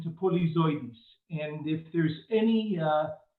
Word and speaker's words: Polyzoides: butchered it pronunciation to polizoids and if there's any uh any catch way to remember how to pronounce your last name well uh the right pronunciation is polyzodous but the easiest way